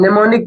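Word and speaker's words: mnemonic: करना वो आसानी से याद हो जाती है निमोनिक की स्पेलिंग ये है एम एन ई एम ओ एन आई सी निमोनिक device okay the symbol of hydrogen is h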